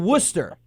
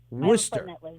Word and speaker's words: Worcester: sauce or wish wish sir so it's called Worcester what yeah Worcester at the whoo haha what's funny is that's